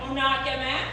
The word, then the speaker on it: Onakeme: I'm breaking it down for you. All right, I know how to say it. Onakeme.